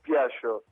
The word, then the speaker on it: Piaggio: ¿Tu apellido se dice Piaggio o Piaggio? Nosotros le decimos Piaggio. Bien. Sin mucha pronunciación italiana, ¿no? Es un apellido italiano. Perfecto. Pero se le dice Piaggio, no se le dice como una G, ¿no es cierto?